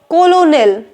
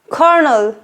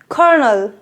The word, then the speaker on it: colonel: tempted to call it colonel but it's not the right way to pronounce it the correct pronunciation of this word would be kernel kernel and this word comes